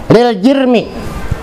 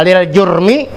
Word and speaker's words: lil jirmi: Kadzatihi ta'ala wa tahayyuzi lil jirmi. Kalau kita bacanya lil jurmi, dosa. Jurmun artinya dosa, makanya jangan salah baca. Kalau lil jirmi, jirim.